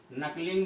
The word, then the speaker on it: knuckling: इसको हम लोग इंग्लिश में नकलिंग विधि के नाम से जानते हैं। इसकी के साइलेंट होता है इसमें, KNUCKLING, नकलिंग मेथड।